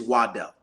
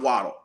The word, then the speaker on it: Waddle: were explaining the same Jalen's last name is Waddell um it's not waddle it's Waddell but Jalen says